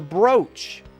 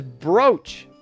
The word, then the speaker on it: brooch: about that was the brooch we don't say br it's not supposed to be said brooch even though that's how it's spelled is broach yeah english is stupid that's